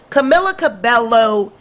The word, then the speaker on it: Camila Cabello: say it camilla cabella how do you say it camilla cabello camilla cabello that's how you say it camila cabello and octavia why do